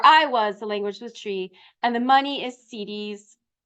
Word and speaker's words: Twi: And Chi, it's TWI, but it's pronounced Chi, and Ga are the languages. Where I was, the language was Chi, and the money is cedis.